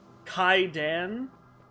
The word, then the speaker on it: Kaidan: And where's where's Kaden? Which, by the way, there was a comment on one of my like shorts, recent shorts, um that the correct way to pronounce his name is Kaidan.